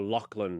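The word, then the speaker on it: Loughlin: Lorie Laughlin's daughter or Lachlan as people sometimes pronounce Olivia Jade.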